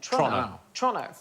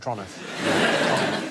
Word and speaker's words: Toronto: My other half is Canadian, and everything seems to be pronounced a little bit faster than it should be. So it's Toronto, not Toronto. Oh, is it? Toronto. Toronto. Like, as quick as you possibly can, like it's a crime to say it.